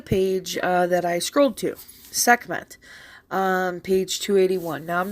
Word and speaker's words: Sekhmet: Technically, that's not correct. The pronunciation would have been Sekhmet with an A. That is the proper way you would have pronounced the first glyph of her name, Sa, S-A. You hear it sometimes in my chants and stuff, Sa, Sekem, Sahu. It's Sa. So it would have been Sekhmet, not Sekhmet.